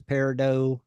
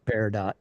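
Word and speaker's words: peridot: real pronunciation versus other pronun and the real pronunciation is Paro yes by Jewelers and collectors and rock hounds and or green moss man right but Tim and Dennis pronounce it paradot it looks like paradot well they the last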